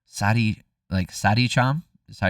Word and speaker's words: Saricam: Saricam is how you pronounce it, though.